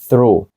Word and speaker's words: through: наприклад проходити через щось through тут це вже у не О не о а у through і в слові